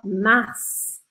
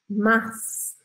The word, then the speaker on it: mars: E às vezes a gente pronuncia assim, como na palavra março, que a gente fala mars, mars.